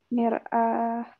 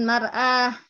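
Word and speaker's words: مرآة: Uridu Mir'ah. mir'ah. Mimnya dikasroh ya, bukan difathahkan. Bukan mar'ah, tapi mir'ah. Uridu mir'ah atau uridu mir'atan.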